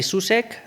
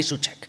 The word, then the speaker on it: Soucek: They say Susk and but it is Suchek. Such.